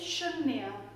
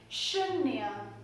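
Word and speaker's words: शून्य: The Hindi pronunciation for the number 0 is Shoe-nya. Shoe-nya. Sh. As you say sh, we have to pronounce Shoe-nya.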